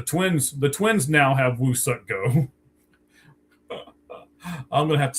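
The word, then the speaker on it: Woo-suk Go: It's not We Suck Go, it's Woo Suck Go. And they actually also they gave him to the Twins. The Twins now have Woo Suck Go.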